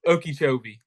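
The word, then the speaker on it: Okeechobee: But it's Oki Chobi. Okie Shobi. I was way off.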